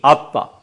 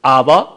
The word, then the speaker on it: abba: 얍 어려워 하는 말이오 abba 아빠 아빠 으 아바 한데 더 가까운 발음은 아빠입니다 아 아 이것이 우리말이 아빠